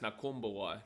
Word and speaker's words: Nakubuwai: Oh, well, before a B is an M as well. So Nakumbawai is spelled Nakubuwai, but it's pronounced Nakumbawai. There's no M, but it's just how they kind of speak.